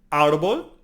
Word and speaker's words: árbol: Árbol. Árbol is tree, and it has over the R-A-A an accent. So therefore we need to emphasize this syllable. So it's árbol, okay?